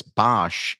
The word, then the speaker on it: Bosch: your book that heronimus Bosch or um I think you pronounce it BOS is um you know